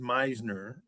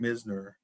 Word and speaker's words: Misner: I think my name has been pronounced Meisner, but everybody that reads it always calls it Misner.